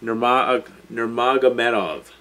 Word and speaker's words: Nurmagomedov: Nurmagomedov. Jesus Christ. Anyway, despite the fact I just had a hard time pronouncing his name, and you wouldn't believe that